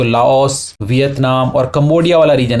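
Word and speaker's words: Laos: इसको हम बोल देते हैं लाओस, लेकिन इसको प्रोनाउंस किया जाता है लाओ, ठीक है, लाओ इस तरीके से।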